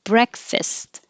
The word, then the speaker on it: breakfast: And we started at the beginning with breakfast. You don't have to say the t at the end.